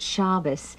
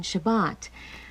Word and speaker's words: Shabbat: My grandmother called it Shabbos, whereas today we use the Sephardic pronunciation, Shabbat.